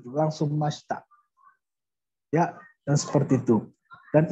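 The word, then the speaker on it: ました: Nah, i-nya biasanya bukan hampir dihilangkan ya mashita. Jadi dipercepat ngomongnya mashita. Mashita. Tabe mashita. Jadi i-nya tuh kayak gak ada huruf i, langsung mashita.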